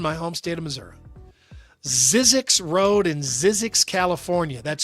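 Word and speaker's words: Zzyzx: Zizzix Road in Zizzix, California. That's spelled ZZ YZx.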